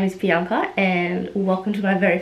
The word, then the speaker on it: Bianca: And yes, my name is not Bianca, it's pronounced Bianca. I come from an Italian background on my mum's side, so that's why it's pronounced Bianca, because she wanted to keep it authentic.